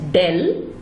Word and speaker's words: del: Now this operator is pronounced as del and represented by an inverted delta.